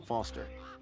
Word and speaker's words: Foster: rhymes with pickles i'm foster i'll remember that easy because your name rhymes with fossil and you're old thanks